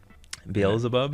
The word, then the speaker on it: Beelzebub: this or not also it's pronounced bl zebub beelzebub and then i guess the